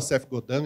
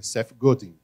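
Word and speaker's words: Seth Godin: pelo CEF golding né Tem gente que fala CEF godando ele mesmo fala eu não sou canadense eu sou americano é CEF golding né ele mesmo pronuncia dessa forma eu tive que aprender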